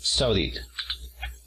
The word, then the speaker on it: Saudi: Luego tenemos a Arabia Saudita. Tenemos aquí Saudi, primera sílaba. Saudi Arabia, segunda sílaba. Saudi.